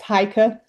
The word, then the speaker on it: Heike: I was going to go back for a second to what, is it Heike? How do you say your name? I'm so sorry. It's pronounced Heike. Heike, thank you so much.